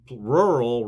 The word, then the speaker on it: rural: Rural rhymes with plural.